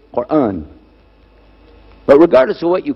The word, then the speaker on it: Quran: It's called Quran. Now in Texas, a lot of people mispronounce it. They call it Koran. But it's Quran.